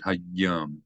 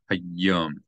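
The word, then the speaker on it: היום: Again, you have a dagesh in the yud, so not just hayom, but hayom. You hold down the yud a little bit. Hayom.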